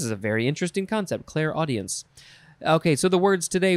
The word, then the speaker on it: clairaudience: It is, I guess you would pronounce it, clairaudience? Clairaudience. So it's Claire, C-L-A-I-R, and then the word audience, all one word.